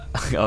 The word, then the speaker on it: ja: Ja. Okay. Ja. Oh yeah, that's how they laugh. That's how the people laugh, right? Yeah. Ja. The J noise sounds like an H in Spanish, right?